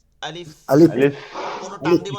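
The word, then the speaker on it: ألف: প্রথম হরফ যেটা আলিফ, এই উচ্চারণটা হচ্ছে আলিফ, আলিফ, সবাই বলেন, সাথে বলেন আলিফ। আলিফ, আলিফ, কি হবে? আলিফ, আ, আ, আ, লি, আ, লি, লি, লি, এই দাঁতটা এখানে মিলাই দিব, ফা, ফা, আলিফ, আ, আলিফ, আলিফ, আলিফ,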